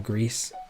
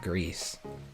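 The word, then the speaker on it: Gris: little overworked been on greece how do you say it is it gree it's got to be gree it's not greece greed does look really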